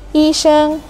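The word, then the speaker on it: 医生: Nada datar ini ada contohnya, yi sheng. Bacanya datar aja gitu. Yi sheng, yang artinya dokter. Nah, nada kedua kita mulai dari pelan ke tinggi atau lai, lai artinya datang.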